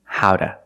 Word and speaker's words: how to: Or pronunciation, howda, howda. Why do we say howda? Because the T is between vowels, phonetically.